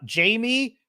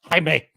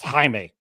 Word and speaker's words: Jaime: starts with um uh Jamie Reyes oh I'm sorry it's pronounced Jaime it's pronounced Jaime more of this Lee